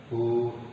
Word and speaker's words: who: laki-laki Tapi kalau wanita Who is she ya dibacanya Who silent letter W tidak dibaca Siapa dia siapa dia